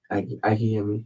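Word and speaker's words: Akinyemi: You pronounce it Akinai? A.K.I.N.Y.E.M.I. A.K.I.N.Y.E.M.I. M.I. Okay. And Akinami? Akiyemi.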